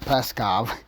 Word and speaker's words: Peskov: Dimitri Dimitri preskov Dimitri preskov that's how it's pronounced there is no one peskov it's just peskov sorry off track you